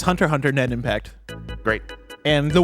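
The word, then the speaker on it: Hunter × Hunter: live switch and PC would you believe that the cross is silent yeah I would it's Hunter Hunter net impact great and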